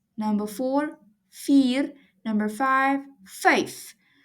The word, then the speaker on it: vyf: Number five, vyf. The V in Afrikaans is pronounced as a f.